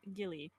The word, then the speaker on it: Ghillie: This episode's topic is now my cat Gilly. Hmm. Episode And for 2, anyone the curious, Gillying. the Gilly episode. For anyone curious, that's spelled Ghillie. Because people always tend to spell it wrong.